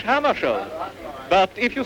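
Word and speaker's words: Hammarskjöld: Well, I pronounce it myself in Swedish Hammarskjold. But if you say Hammarskjold, that's all right with me.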